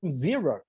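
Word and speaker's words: Xero: the most for me is the accounting platform zero you might use sage or soft line or whatever you use we use zero x e r o i always laugh in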